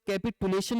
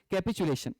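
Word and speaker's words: capitulation: कैपिटुलेशन, इसका हालांकि अलग अलग प्रोनाउंसिएशन है, कई सारे लोग कैपिटुलेशन भी बोलते हैं, but real pronunciation is कैपिचुलेशन।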